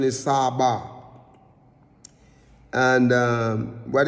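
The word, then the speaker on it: צבא: we said it was Sabah, and it's the pronunciation is Sabah.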